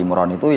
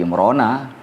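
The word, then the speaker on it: عمران: dengan kata alkahfi e kalau surah Ali Imran itu ya Ali imrana bukan imrani bukan imronu imrana cuma kita enggak biasa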